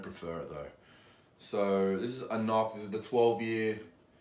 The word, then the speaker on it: AnCnoc: it new bottle here it's pronounced if you can see that there's pronounced a knock to know how I would